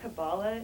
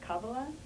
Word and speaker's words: kabbalah: wanted to say um it's not kabbalah it's kabbalah that's how you pronounce it see that's that kind